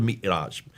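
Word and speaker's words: معراج: But that's where called the Miraj. How do you pronounce it?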